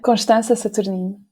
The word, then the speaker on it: Constanza Saturnino: So I'm going to introduce you as Constanza Saturnino, which is very weird to pronounce with an English accent. It is. I don't think I've ever done that. Pronounce it as it's meant to be pronounced.